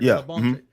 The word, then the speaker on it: Labonte: Is that how you pronounce it? Right. Labonte on uh the DVD of that gural singing coach.